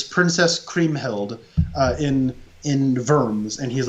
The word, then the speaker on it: Worms: kings they they live in verms or worms as it's spelt uh which is like